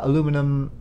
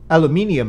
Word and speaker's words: aluminium: that exist in real life right now uh aluminum uh oh sorry aluminium apparently as it's spelled there Photon sale all sorts of photon